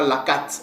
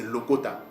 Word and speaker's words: lokota: ok donc ce mot-l se prononce lcota c'est pas laakate mais c'est Lokota ok retournons donc vous